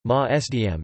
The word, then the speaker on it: Maasdam: Maasdam cheese, Dutch pronunciation, Maasdam, is a Swiss-style Dutch cheese.